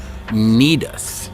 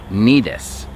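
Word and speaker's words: Cnidus: towards the city of nedus now this is an interesting one because it starts with a c but that c is silent it's more like in the brackets on the bottom neatest all right so they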